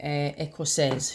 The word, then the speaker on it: écossaise: But if a female is speaking, it will be écossaise. Je suis écossaise. Notice that when it's got an E at the end, the pronunciation changes as well as the spelling, okay?